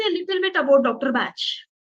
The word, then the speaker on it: Bach: lot of anti-german feeling he was previously pronounced as Bach and that sound is giving that anti-german feeling so they changed his name from Buck to batch in April his first